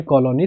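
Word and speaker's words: Cologne: इसको कॉलोनी पड़ता पढ़ा जाता है। जी इसमें साइलेंट होता है।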